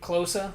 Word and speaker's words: Klose: they watch your car who Klose that's how they said it cuz it's German you know that's the German pronunciation that's where they're sitting